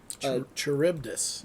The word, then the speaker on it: Charybdis: flag having 52 stars, it's kind of established that the ship later on is actually the Charybdis. The is it Charybdis or pronounced Charybdis?